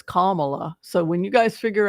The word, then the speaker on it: Kamala: I've heard it's not Kamala I've heard it's Kamala so when you guys figure out how to pronounce it let me know if we lose